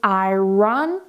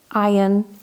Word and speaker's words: iron: In the UK, we don't say I run, we say iron, iron.